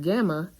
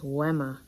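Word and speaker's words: γάμμα: it's vita and then it's not gamma it's wemma also iota like how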